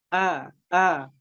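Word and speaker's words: أعوذ: Gimana caranya kita melafadzkan hamzah dengan tipis? Itu cukup dengan tersenyum. Cukup dengan mengeluarkannya dengan tersenyum. Tersenyum tipis. A'udzu, a'udzu.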